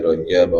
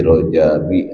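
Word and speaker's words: رَجَبَ: Para ulama, jumhur ulama membacanya fi Rajaba, bukan fi Rajabi atau fi Rajabin jumhur ulama ya. Ini karena Rajaba dan Syak'bana ini masuk dalam isim ghair munsarif. Jadi dia tidak kena rab gitu ya.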